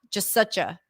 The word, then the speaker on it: just such a: pronounce just such a and then to turn it into something so meaningless like just sucha just sucha just sucha but these